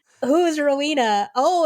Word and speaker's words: Rowena: Rowena, not Rwanda, not Rwanda, not Regina.